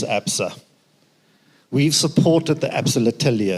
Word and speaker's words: L'Atelier: One of the things that we've been doing as Absa, we've supported the Absa L'Atelier.